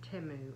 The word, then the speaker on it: Temu: I'm back to do part two of my Teemu haul and I hope that you'll enjoy this haul um if you haven't heard of chimu it is it's timu actually that's the way they pronounce it on the the um commercial uh